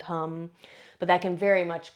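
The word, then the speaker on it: ham: The seed sound of the throat chakra is hum. It's spelled h a m. But the a in Sanskrit is pronounced uh and so uh you can inone that sound.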